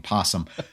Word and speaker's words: opossum: Well, uh, a possum is really just it's it was quaint of you to actually pronounce the O in their name instead of just saying possum.